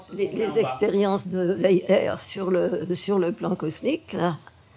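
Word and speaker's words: Weyher: Alors, il paraît qu'en Belgique, le W se prononce V. Bon, moi, je veux bien. C'est un condensé parce que Weyer a écrit, autant que je me souvienne, ces trois volumes.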